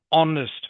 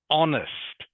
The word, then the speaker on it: honest: He is an honest man. So it's not pronounced honest, it's pronounced honest. The h is silent.